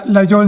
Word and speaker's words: Laguiole: They also make the traditional slip joint Laguioles, but this particular model is from their Laguiole Nature series, or if you prefer the French pronunciation, Laguiole Nature.